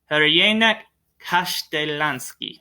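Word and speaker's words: Crljenak Kaštelanski: Hrjanak Kastelanski. Hrjanak Kastelanski. There we go. Hrjanak Kastelanski. Trust me, the spelling is not anywhere near how it is pronounced phonetically.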